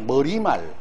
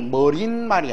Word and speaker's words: 머리말: 이건 발음이 머릿말이 아닙니다. 니은 첨가 즉 사이소리 현상이 일어나지 않습니다. 다음에 머릿기사도 아니에요. 머리기사. 이 둘은 기와집처럼 발음이 표기 그대로이고 사이소리 현상이 일어난 발음이 아닙니다.